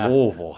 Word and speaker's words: Louisville: You got to swallow it a little more. Louisville.